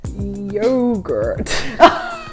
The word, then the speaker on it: yogurt: It is yogurt. Yeah, it's like yo, isn't it? Yogurt. Yogurt. Yogurt. There's a very much sharper sound.